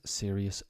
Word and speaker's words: serious: Various, serious, nervous, obvious, previous. Most of my students don't really have a problem with this. What to remember, the OUS rhymes with miss, not us, or mouse.